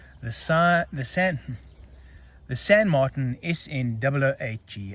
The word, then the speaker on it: San Martin: is in double hg i've just decided i'm going to say it like an englishman and i'm not going to try the french thing because i just sound ridiculous trying to say it in french just get that bezel